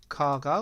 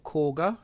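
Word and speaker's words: Kagha: we have um dealt with kaga or kga depending on how you want to pronounce her name um and we are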